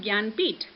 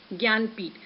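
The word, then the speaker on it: Jnanpith: If you will be going with the spelling Gnanpith, then you will be saying, ma'am, how it could be pronounced Gyanpith.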